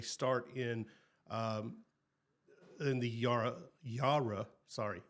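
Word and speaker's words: Yarra: the Yara Yara sorry Yara Valley. It's if you look at it, you're like Yara Yara Yara Valley, but it's like Yara and they will punch you if you say it wrong or at least it's sternly to you.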